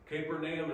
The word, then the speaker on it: Capernaum: boat they are leaving capernaum capernaum capernaum is how you say it capernaum means village of